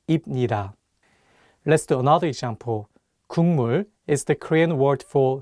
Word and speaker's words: 국물: The consonant 기역 is for G sound in English, so you can read it as 국. But it's paired with the nasal sound 미음, so it changes the pronunciation from a G sound to an NG sound, and you need to read it as 국물.